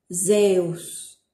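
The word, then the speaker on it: Ζεύς: Se pronuncia algo así como si fuera una D y una S juntas, ¿sí? Así, por ejemplo, tenemos la palabra Zeus.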